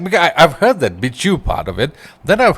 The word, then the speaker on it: Bihzhu: Bihzhu, right? No, it's actually pronounced Bihzhu. Bihzhu. Like train.